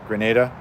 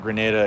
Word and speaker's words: Grenada: Grenada? Okay. Yeah, I don't know anything about Grenada except for the fact that it sounds like the word grenade.